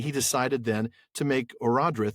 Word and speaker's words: Eärendil: the son of Eärendil, another name that we probably mispronounced in the early Season 1 episodes as Orodreth, but it is Eärendil.